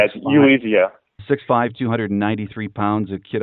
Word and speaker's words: Ulizio: Nolan Ulizio, I'm not even sure how you pronounce his name. It's Ulizio.